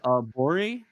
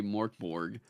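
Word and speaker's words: Mörk Borg: Mörkborg, Mörkborg, or, then I heard the Stockholm guys just straight up say Morkborg.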